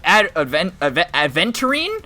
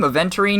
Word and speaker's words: Aventurine: Oh, Aventurine, I think is how you say his name. Aventurine.